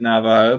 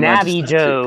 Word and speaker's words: Navajo: I would pronounce it Navajo, but if I was reading it using Navi Joe.